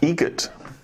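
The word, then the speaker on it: Eget: How do you say the name? Adam Egget. Egget. Spelt differently. Like the bird. That's Egret. Do you know what Adam Egert has in common with a guitar player?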